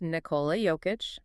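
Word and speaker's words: Nikola Jokić: And pronounced Nicola Joic.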